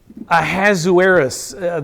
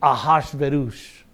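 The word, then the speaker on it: Ahasuerus: the name you see in the bible is a hazuris that's how most people pronounce that a good hebrew word pronounce it a and me being a good hebrew wannabe is gonna pronounce his name ahash verus because that's his name ah and this is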